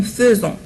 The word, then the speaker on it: faisons: إذا faites attention avec le verbe faire. هنا le verbe faire AI du verbe faire أحيانا تلفظ E. Par exemple, nous faisons. Nous faisons. لا نقول nous faisons. لا نقول nous faisons. وكما رأيتم هنا S se prononce Z لأنها se trouve entre deux voyelles.